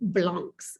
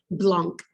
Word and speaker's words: blanc: social classes those four classes were called grong blanc's the top grand blanc that means large whites